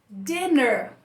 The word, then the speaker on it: dinner: Dinner, com dois N's, a gente fala com o som E, então não é o som I.